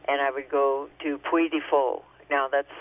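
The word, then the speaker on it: Puy du Fou: back to France and I would go to Puifo. Now, that's spelled P U Y D U F O U.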